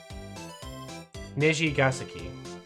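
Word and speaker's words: Nijigasaki: Nishigasaki. That's how it's meant to be pronounced.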